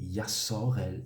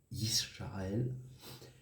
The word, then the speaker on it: Israël: de d'Israël qui est en réalité yassorel et non pas Israël parce qu' si nous